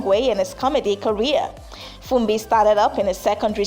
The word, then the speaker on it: Funbi: shows ladies and gentlemen my name is spelled as f-u-n-b-i like fun by from by i'm a